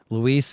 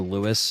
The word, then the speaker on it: Luis: Luis is more what I call him. I know Louis is like what I probably used to call him because Leon just would say that, but now I just call him Luis because that's what it is. I feel like Louis is like Louis from Left 4 Dead, you know? Like, this is actually spelled like Luis.